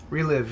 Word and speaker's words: ReLive: Ever since AMD rolled out their Relive, is that how you pronounce it? Relive, yes.